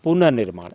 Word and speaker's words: पुनर्निर्माण: उच्चारण में आप ध्यान रखें, पुनर् न के बाद र आधा र का उच्चारण हो रहा है। इस प्रकार से पुनर्निर्माण में न पे छोटी का मतलब उसके बाद आधा र लगेगा का सवाल प्रमुख था।